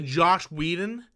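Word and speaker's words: Joss Whedon: It's like one of those things that's easy to write and impossible to say, because no matter how you say it, it sounds like Josh.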